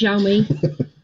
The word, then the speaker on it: Xiaomi: It's pronounced Xiaomi.